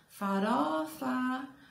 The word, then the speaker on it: farofa: Aí, qual é a sílaba mais forte? Então, a gente chama farofa, farofa. A gente demorou no ró. Então, é a penúltima sílaba.